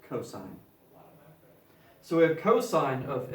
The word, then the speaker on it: cos: abbreviation for cosine again you do not pronounce that cost no we pronounce it cosine so we have cosine of a equals by definition adjacent over hypotenuse mr.